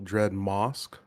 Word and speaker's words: Dreadmast: I think you actually pronounced this wrong. I think it's Colossal Dreadmast. Mosque.